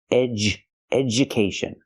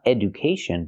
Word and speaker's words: education: Education. Not education, but education. And schedule.